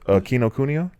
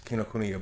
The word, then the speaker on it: Kinokuniya: Kinokuniya. Kino. Yeah. Ku. Oh, books. Kinokuniya books.